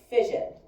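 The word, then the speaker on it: fission: Fision. Fision sounds like the word division.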